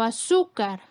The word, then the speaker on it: azúcar: Por ejemplo, azúcar, su es la sílaba con mayor fuerza, es la penúltima sílaba, cumple con la regla de acentuación, porque termina en R, colocamos la tilde.